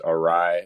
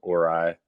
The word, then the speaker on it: Orai: name's uh the pronunciation is orai which it stands for oracles and AI so it's orai uh no biggie though